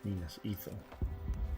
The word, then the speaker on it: Minas Ithil: We will dismantle his hold on Minas Ithil. We will shift the tide of war. So that's how you say it. Minas Ethel.